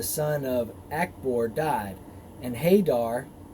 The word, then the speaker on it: Hadar: of ackboard died and hadar also pronounced hey dad reigned in his stead